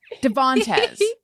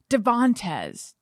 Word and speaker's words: Devantez: weird i even wrote i even wrote the middle syllable in all caps and then when i said it i put the emphasis in the wrong place devontes yeah devonte it doesn't